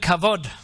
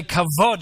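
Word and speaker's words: כבוד: C-H-A, B-O-D, but it's pronounced as a V.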